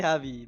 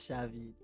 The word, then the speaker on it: Javi: It's supposed to be Javi, but everyone says Savvy.